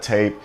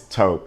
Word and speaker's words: taupe: It's not taupe, it's not tape, it's taupe.